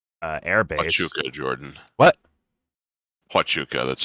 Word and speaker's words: Huachuca: Huachuca, that's how it's pronounced.